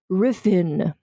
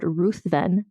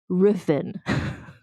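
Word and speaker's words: Ruthven: pronounced this as Lord ruthen which is how it is spelled but I've been informed by Scottish people that you don't say the T it's Lord riffen which feels very weird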